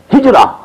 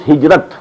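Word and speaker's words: هجرة: Hijra, which we in Urdu pronounce hijrat. This is the negative side of jihad.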